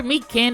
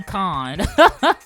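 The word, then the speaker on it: Mikan: I called her Meekin, it's actually Mekon. Almost similar to the word pecan or pecan, whichever you want to pronounce it as.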